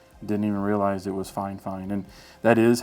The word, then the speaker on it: FIFINE: or five years didn't even realize it was fine fine and that is how it's pronounced by the way um I asked Ted